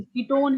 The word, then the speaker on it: ketone: वन नहीं, ओन हाँ बोलते, कीटोन है ना, तो इसका ओन।